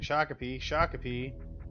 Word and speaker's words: Shakopee: Anyone who hasn't been in Shakopee is spelled Shack of P.